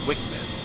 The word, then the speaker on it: WCMD: IM carried by the A10C include the joint directed attack munition JDAM and the wind corrected munition dispenser WCMD, often pronounced Wickman.